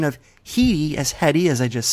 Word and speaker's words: Headey: have mispronounced it as heady because the mispronunciation aligns with the spelling of the last name so we saw this